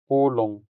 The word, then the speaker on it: ulong: in Hiligaynon could be ulong, ulong, ulong. The stress falls on the first syllable or also our first U sound, which makes it sound longer.